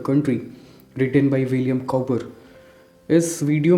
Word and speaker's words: Cowper: है ज्यादातर लोग इन्हें विलियम कॉपर कहते हैं लेकिन यह जो वर्ड है कपर उसको कभी-कभी कूपर की तरह भी प्रोनाउंस किया जाता है सबसे पहले हम